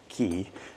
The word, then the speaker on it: Cay: a perfect day at CoCo K or key uh as it's supposed to be pronounced but we're really excited